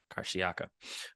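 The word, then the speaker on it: Karşıyaka: in southern Russia and I want to mess up the pronunciation of it but karsiaka they kept saying that right karshiaka but say all is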